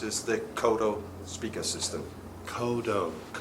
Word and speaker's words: Kodo: Kodo, which is a Japanese drum, this big drum. And viewers, that's spelled K-O-D-O.